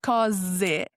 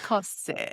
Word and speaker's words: cose: You know, if you know the rule, so when you have a letter S between vowels in Italian, the rule is that you get a Z sound. So cose and not cose.